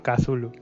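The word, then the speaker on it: Cthulhu: cómo lo pronuncias tú yo me decanto más por por kazulu es la que la que pronuncié por primera vez y con esa Me he quedado Vale y extraño Jones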